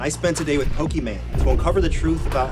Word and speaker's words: Pokimane: People say Pokimane, but isn't your Pokemon. name pronounced Iman? My name is Iman, so it's the second half of the name, I-M-A-N-E. So it's meant to be like Pokemon, kind of like the game Pokemon.